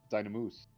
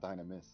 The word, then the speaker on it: Dynamoose: Dynamoose. This whole time we've been mispronouncing his name. It's Dynamoose, not Dynamus.